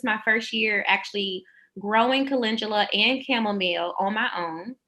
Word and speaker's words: calendula: yes with my hormones mm-hmm how do you pronounce it is it can do look this is calendula you know what so marigold marigold calendula uh i heard kendall doula and i thought that was so funny when